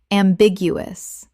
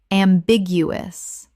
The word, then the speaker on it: ambiguous: Ambiguous. Correct pronunciation. Ambiguous. 4 syllables with the stress on the second, meaning open to more than one interpretation.